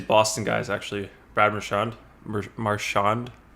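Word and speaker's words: Marchand: i know these boston guys actually brad michonne marshand how do you say his name marshawn yeah uh played some mlb actually as well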